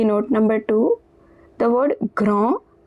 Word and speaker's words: grand: The word grand, d at the end is silent, and it means big.